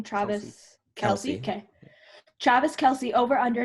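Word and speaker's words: Kelce: How do I pronounce this person's last name? Travis Kelsey.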